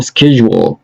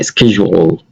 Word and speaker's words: schedule: shift بتسويها work period duty time rotation أو schedule. طيب دي بتنطق schedule مش schedule. تمام.